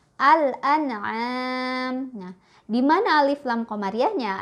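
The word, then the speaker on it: الأنعام: ada kata seperti ini maka ini kita bacanya al-an'aam Al An'am dimana Alif Lam Qomariah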